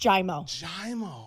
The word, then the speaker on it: Giaimo: it am I getting this so the correct pronunciation in Italian is actually giamo you have it but it's just jaimo oh really can you say it with an